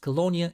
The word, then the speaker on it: Colonia: And yes, Colonia is the 100% law accurate way to pronounce the city's name.